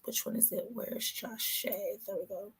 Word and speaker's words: Jashyah: one is it where's josh shea there we go i keep saying josh just shia that's how you uh pronounce it okay so let's start